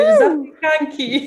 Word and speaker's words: zapiekanki: Zapiekanki, yeah.